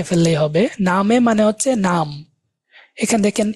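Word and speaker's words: Name: হবে নামে মানে হচ্ছে নাম এখানে দেখেন ইংরেজিতে এটা নেম প্রোনাউন্সিয়েশন আসে আর ডে আসে এন আনা এম এম এ নামে প্রোনাউন্সিয়েশন আমরা দেখব মাই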